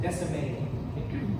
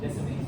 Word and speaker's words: Descemet: The T is silent. Descemet. Descemet's membrane.